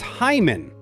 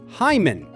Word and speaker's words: hymen: The correct way is Hyman. Start with hi like saying the word hi and finish with a soft mun together. Hyman.